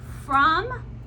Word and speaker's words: from: she grabs a snack from that's a word that does not sound the same way we spell it so it is actually an O that's right it's not a u it is an O from right that's why